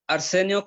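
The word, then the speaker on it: Arcenio: Y luego tenemos a otro estudiante, Arsenio, ¿así se pronuncia su nombre, hermano? Sí, Arsenio con C.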